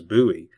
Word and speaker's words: Bowie: The largest city in Monte County is Buouie, and it is pronounced the same way as Jim Buouie, the great Alamo defender for whom the city is named. Note that it is not pronounced like David Bowie.